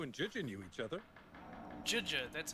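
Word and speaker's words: Zhezhi: Juja, that's how you pronounce her name.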